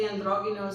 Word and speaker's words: androgynos: And I keep saying it with the Greek pronunciation or the Hebrew pronunciation actually be because it's